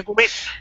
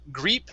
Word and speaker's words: grip: So let's try the short I on the word grip. Okay? Grip. So instead of greep, grip. So grip.